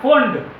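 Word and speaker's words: Pfund: 5 पर जंप करे तो इसको भी हम लोग एक नाम देते हैं, इसको बोलते हैं फोंड। यहां पर मैं नाम लिखता हूं, फोंड, P साइलेंट है, फोंड सीरीज।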